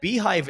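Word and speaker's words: beehiiv: And Beehive is interesting because they're another platform. It's spelled BHIV, and they were created by the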